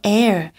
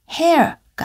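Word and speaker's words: heir: He will not be your air. 그는 너의 상속자가 아니다. 여기서 air가 다시 나왔는데요. 앞에 H가 있지만 H는 묵음이고요. hair가 아니고 air라고 읽으시면 됩니다.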